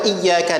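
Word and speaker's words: إياك: Iya cara amutu wa iyyaka nasta'in perlu diperhatikan yang pertama ia sedih ia tasdid nabroh kan tekan jangan Iya karena ampuh tapi Iya karena butuh kemudian ia kedua latih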